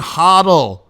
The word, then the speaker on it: hodl: Hang on and hodl. Hodl, as the current pronunciation is.